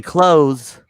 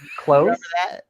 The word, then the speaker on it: clothes: bet you're like erock you say clothes clothes no one pronounced the s on clothes clothes clothes i just